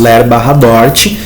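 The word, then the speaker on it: LER/DORT: colocaram ler barra dort Então hoje a gente pronuncia isso ler bar dort que são eh as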